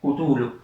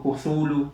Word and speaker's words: Cthulhu: leyeron La llamada de Cthulhu. Esto es un cuento de Lovecraft, tiene varias pronunciaciones, Cthulhu, Cthulhu, Cthulhu, Chulu. Yo elegí la que más me gusta, ¿no? Le digo Cthulhu.